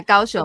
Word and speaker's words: Kaohsiung: Yeah, Kaohsiung. Okay. Did I pronounce that? Okay. Kaohsiung Symphony Orchestra and Asian Youth Orchestra.